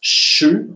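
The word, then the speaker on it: sju: Yeah, okay, so it's 7, okay, that's a sh, sh, sh, like in fish in English, and 20.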